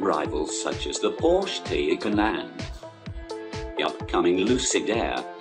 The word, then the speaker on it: Taycan: 2021 Porsche Taycan, pronounced Taycan, is a truly innovative electric vehicle, showcasing the high-performance potential of the species.